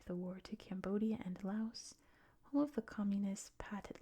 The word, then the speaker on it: Laos: We have the Pathet Lao line coming through here, through Laos, or Lao, depending on where you're from. The official USA pronunciation, you say the S. In most countries, you don't.